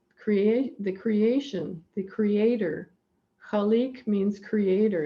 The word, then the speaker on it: Khaliq: from the arabic and the sound has a kind of glitteral sound at the beginning and the q at the end is kind of like a k but it's a little bit farther down in the throat if you say it